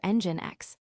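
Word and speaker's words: nginx: Choosing your web server, Apache or Engine X. Both Apache and Engine X, pronounced EngineX, are excellent choices for hosting web content, and both are widely used.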